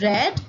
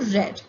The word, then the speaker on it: read: here although you see read it's b2 and b3 form spells the same but it is read as here read b2 is red and b3 is also red it is a difference